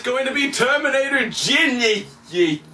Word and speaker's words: Genisys: going to be Terminator Ginny ye which I refuse to pronounce this Genesis cuz it's not spelled correctly and shame on you